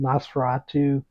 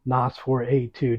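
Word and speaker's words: NOS4A2: and the firemen in Nosferatu or NOS for A2 depending how you want to pronounce that and perhaps one of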